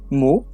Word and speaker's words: maux: His scriptures explained that in French, the pronunciations of suffering, mot, and words mot, are pronounced the same for a reason.